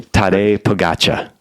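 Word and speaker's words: Tadej Pogačar: Would you please pronounce the name? Tade Pagatcha.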